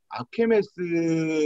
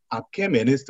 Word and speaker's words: 아케메네스: 페르시아의 아케메스 왕조, 아케메네스 왕조. 이게 참 발음이 어려워요.